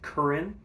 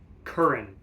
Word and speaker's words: Curran: I learned the correct pronunciation from one of his students who studied with him at MSM. Curran. George Curran. So this is a Shire's George Curran model. I'm going to pronounce that correctly from now on.